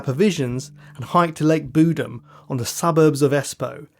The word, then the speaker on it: Bodom: got a good authority that Lake Bodom is actually pronounced budem so we'll be going